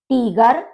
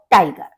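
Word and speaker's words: Tiger: तो लिवा लन श टीगर टीगर टाइगर बाग दे स्पेलिंग दोनों की सेम है इंग्लिश में भी और जर्मन में भी लेकिन उसका प्रोनंसिएशन डिफरेंट है टीगर और वो टाइगर बेयर बेयर बियर भालू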